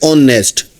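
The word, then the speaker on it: honest: जैसे अभी देखें अभी हमारे पास है ऑनेस्ट। अब ऑनेस्ट में हमारे पास क्या होता है? दिखने में तो यह हमारे पास कसोनेंट लेटर से स्टार्ट हो रहा है।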